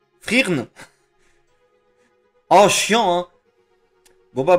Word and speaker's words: Frieren: Frieren. J'ai le tibia cassé. Ah bah oui, bah oui. Frieren. Frieren. Ça me dit rien, Frieren. Le E se prononce pas. Frirn!